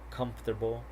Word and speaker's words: comfortable: Okay, so here the vowel immediately after a stressed syllable is frequently not pronounced.